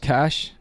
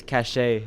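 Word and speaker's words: Caché: Kate said it's pronounced Cash. I don't know French. I mean, you took French, didn't you? I did. We didn't learn that word. I always thought it was cachet.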